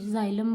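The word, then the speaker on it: xylem: तो जैसे मैंने बोला जाइलम, इसकी प्रोनाउंसिएशन में क्या आता है? ज आता है आगे, जाइलम के में ज आता है। इंग्लिश में तो एक्स से लिखते हैं जाइलम।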